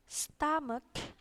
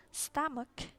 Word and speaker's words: stomach: eyes, cheeks, weights, jadi A gitu, chin, neck, ini biasa, chin, neck, head, breast, stomach, O-nya dibacanya A, agak ke A, stomach, wrist, ini mirip ya, ini waist, ini wrist, lips, nose, mouth, eyebrow, ankle, finger, ear, hair.